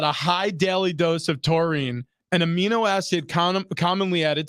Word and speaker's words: taurine: Apparently, they've been testing rats and monkeys and giving them supplements of taurine. Is that how you say it? Yeah, taurine.